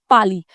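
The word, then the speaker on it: parley: or meeting is called Pali. Here the R is silent. Okay, so they'll have a Pali.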